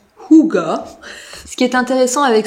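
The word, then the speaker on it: hygge: dis le livre du hig mais ça se prononce Kuga ce qui est intéressant avec ce bouquin c'est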